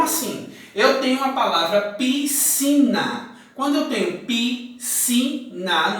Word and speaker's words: piscina: Eu tenho a palavra piscina. Quando eu tenho piscina, nós pronunciamos o SC com o som de C. Piscina.